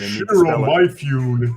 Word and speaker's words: Toshiro Mifune: Toshiro Mifune.